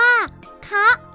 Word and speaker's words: คะ: หมาย ต่าง กัน ด้วย เพราะ คอ เป็น อักษร ต่ำ จะ ออก เสียง ไม่ ตรง กับ รูป วรรณยุกต์ คะ ดัง นั้น คำ ว่า คะ เป็น เสียง ตรี มี ความ หมาย เป็น